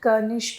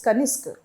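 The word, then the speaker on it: Kanishk: So your name is Kaniska or is it Kanesk? It's not Kanesk. It's Kaniska. Uh yes ma'am it would be pronounced Kanisk.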